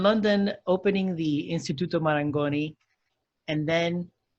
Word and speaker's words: Marangoni: you were in london opening the institute of marangoni and then right did i say it right